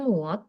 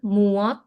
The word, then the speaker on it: 무엇: Berarti kamunya nggak usah dipakai ya, langsung berarti apanya muot ditambahin partikel e, terus pakai kata tanya. Muat. Mau mon mon mon sim dah. Moksem nikah. Moksim nikah. Mhm. Ini bacanya muot, kalau mereka berdua doang muot.